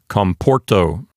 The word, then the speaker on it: comporto: Therefore, the penult is a long syllable, and so it will keep the accent for itself. It will not jump over to the antepenult. And so this word sounds like comporto.